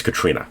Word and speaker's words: Catriona: on needless Street by Katrina Ward I always mess up that first name when it's spelled like catriona but it's Katrina I got to get that in my brain Katrina Ward um brother